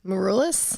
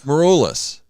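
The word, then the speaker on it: Maroulis: How do you pronounce her last name? Morulus. Morulus.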